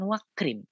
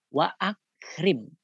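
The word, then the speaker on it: وأكرم: Tetap dibaca bukan wakrim, tetapi apa? Wa akrim nuzulahu.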